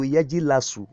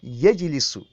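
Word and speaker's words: يجلس: So it is wrong for you to say, to turn yajlisu to yajilasu or yajilusu. No. Very wrong. That is not how it is in Arabic dictionary. Jalasa, yajlisu. So you pronounce them the way they are in Arabic dictionary, or the way the Arabs say it.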